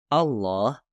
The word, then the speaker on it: Allah: sangat dimuliakan yaitu Allah ketika dimulai dari kata Allah lam diucapkan sedikit berbeda daripada kata lain dalam bahasa Arab menjadi lam tafkhim atau seperti yang disebut dalam bahasa Indonesia lam tebal dan pengucapan lam seperti